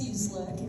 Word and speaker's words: Cieslik: So my name is pronounced Cieslik. It's like seasick with an L.